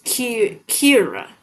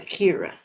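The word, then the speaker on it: Ciara: Oh, it's Kira. That's what they say. Yeah, Kira.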